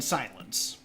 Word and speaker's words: silence: actually in your hint because you claim that the E is missing in silence uh because it's a silent e but it's a silent e that's making the i in silence long so it is modifying a sound even though it's silent